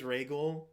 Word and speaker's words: Rhaegal: So it is Rhaegal. I questioned whether or not it was Rhaegal, but I was pretty sure it was Ray.